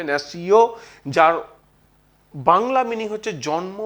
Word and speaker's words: natio: নেশন শব্দটি ল্যাটিন শব্দ ন্যাসিও, NATIO উচ্চারণটা হবে ন্যাসিও, যার বাংলা মিনিং হচ্ছে জন্ম বা জাতিগোষ্ঠী।